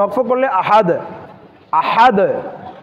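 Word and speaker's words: أحد: এখানেও আবার দাল যখন সাকিন হচ্ছে তখন দালটাকে কি করতে হবে? কলকলা করতে হবে। আবার এখানে আহাদ, হাদ, হা, হাটাকেও ভালোভাবে আমাদেরকে কেয়ারফুল সতর্কতার সহিত হা উচ্চারণ করতে হবে, তখন হবে আহাদ, আহাদ।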